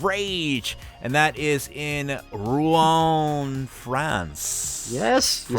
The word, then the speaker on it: Rouen: And that is in Rouen, France.